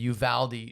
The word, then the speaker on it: Uvalde: i just learned as a proper way to pronounce it the uvalde shooting and when you look at that and